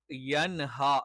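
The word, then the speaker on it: يَنْهَى: ഉള്ളതുപോലെയുള്ള അക്ഷരങ്ങളല്ലഹ എന്ന് അതേപോലെ എ എന്നുള്ളത് തെറ്റാണ് യൻഹ എന്ന് തന്നെ പറയണം അതേപോലെതന്നെ ഇവിടെ സുക്കൂനുള്ള നൂആണ്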